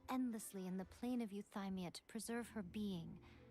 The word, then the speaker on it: Euthymia: The true Raiden Shogun, who meditates endlessly in the plane of Euthymia to preserve her being. Euphymia is how the game wants it pronounced.